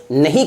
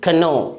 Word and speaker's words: know: सबसे पहला KNOW, इसे क्या पढ़ेंगे नो ना कि कनो, क्या पढ़ेंगे इसे नो।